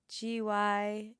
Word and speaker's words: gyro: Can I have the beef gyro? It says gyro. gyro. It's like yeehaw.